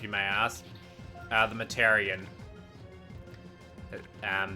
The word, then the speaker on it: Mataurian: may ask uh the mataran um that's how you pronounce my name a lot of people pronounce it different ways and stuff but yeah it's mataran exactly they'll keep caring about